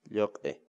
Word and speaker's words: lluq'i: de videos en la que te enseñamos a pronunciar algunas palabras en quechua. Así que nuestra palabra del día por hoy es... Lloc-e.